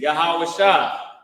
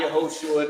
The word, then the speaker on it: Yahawashi: uh Jesus Christ name his name Jesus is yahawashi not yahushua not Yeshua none of that which